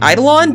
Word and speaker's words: Eidolon: probably cited summons and idolan or something um or in Eidolon because that's how it's actually pronounced or you know whatever